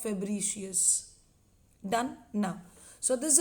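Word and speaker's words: Fabricius: बहुत लोग इसको बर्सा ऑफ फैब्रिकस बोल देते हैं, ये आमूमन जो नॉर्मली हम बोलते हैं वैसे फैब्रिकस बोल देते हैं। Technically if you want to pronounce it, इट is going to be like bursa of फेब्रिशियस।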